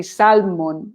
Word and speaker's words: salmon: So you have a tendency to say salmon, no? Sal. Yeah. So salmon. It's the same word in Spanish, but you pronounce the L salmon, in Spanish.